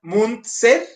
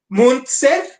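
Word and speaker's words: Müntzer: Ahí la diferencia del nombre del poblado es nada más que el poblado empieza con T y el protagonista es TZ. El poblado es munster y el tipo es Mun con t ser.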